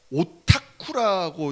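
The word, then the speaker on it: オタク: 덕덕 짜 썩 써 덕후 이런데 이게 일본에서 오타쿠라고 이렇게 발음을 한다는 거예요 근데 이게 일본에서 어떻게 나왔냐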